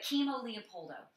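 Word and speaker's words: Kimo Leopoldo: legend in the UFC, and his name is Chemo. Leopoldo. Ah, did you say that? You're afraid I was going to speak in tongues? He thought I was going to speak in tongues or something. But Chemo Leopoldo.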